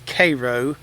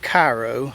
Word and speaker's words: Cairo: So in the nearby town of Cairo, Georgia, yes, it's Cairo, not Cairo, although it's spelled like Cairo.